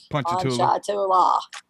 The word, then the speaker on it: Ponchatoula: And most people don't pronounce it right, but you can tell you're from there because you say it right. Mm-hmm. People like to say Pocahontas and everything else. I'm like Ponchatoula.